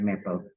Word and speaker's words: Maple: Tulisannya Maple, bacanya Maple.